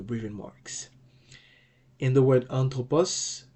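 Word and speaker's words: ἄνθρωπος: marks in the word anthropus the smooth brething Mark functions like a mute H so it's going to be anthropus it doesn't affect the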